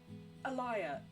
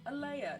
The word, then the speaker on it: Alea: when I'm like, and people are like, Alaya, no, Alea, no, and I'm like, okay, no, you know like King Lear, just put at the beginning of it. Lear. Not even King Lear, the female name Lear.